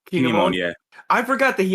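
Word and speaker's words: Kin'emon: But like I forgot that I am gonna butcher his name, so I'm gonna have you pronounce it. The fire samurai with the 2 swords. Oh, Kinemon. Kinemon.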